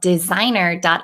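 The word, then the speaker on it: Dsignr: I have is called designer. it's DZ or no d s i GN rr. they always like to spell It Funky go fig okay so designer.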